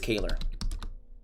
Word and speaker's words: Kaylor: I just said it I I I've heard it called like Kaylor let me look back on hockey reference I I think I think it's Kaylor yeah think one of the best features of hockey reference is they got all the pronunciations Kaylor Kaylor so kind of like Taylor basically uh so there you